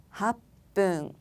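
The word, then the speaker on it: はっぷん: 합분.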